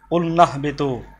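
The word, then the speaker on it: قُلْنَا اهْبِطُوا: কুল না ইহবিতু, কুল নাহবিতু, কুল না ইহবিতু মিলিয়ে পড়ার কারণে কুলনাহ বিতু। এখানে হামজা ছিল জায়দা, যেটা যে হামজার উচ্চারণ এটা আলিফে জায়দা ছিল, এই উচ্চারণটা দরকার মানে এটা যখন তার পূর্বে শব্দ আসবে তখন এই আলিফের উচ্চারণ হবে না।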